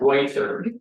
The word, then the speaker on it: Reuther: Reuther. I'm sorry. Like Reuters News Service with a Utah front.